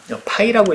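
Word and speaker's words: φ: 그러면 그것 때문에 나는 10파이짜리 구멍이 뚫린 것 같았지만, 파이라고 읽어주시면 돼요.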